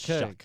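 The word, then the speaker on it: Shough: I don't know why they spell it like that, but it's Shuck. It's like is it H-O-U-G-H? S-O-U-G-H. And that's where does the Shuck come from?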